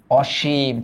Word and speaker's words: অসীম: এটার উচ্চারণ অসীম এটাও নীতিবাচক উপসর্গ অসীম এটা এটাও ডান পর্যন্ত